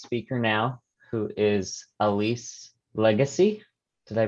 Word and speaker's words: Lagace: We'll move on to our next speaker now, who is Elise Lagace. Did I pronounce that right, Elise? Lagace.